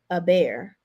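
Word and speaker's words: Hébert: My last name is French pronounced a bear.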